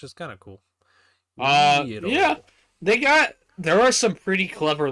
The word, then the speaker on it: Uiro: But yeah, that's weird because oh no, it's just UIRO, and it's still pronounced the same way, which is kind of cool. yeah. Wiro.